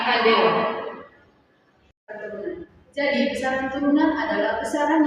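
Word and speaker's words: candela: Cara tulisnya itu pakai C, bacanya kandela.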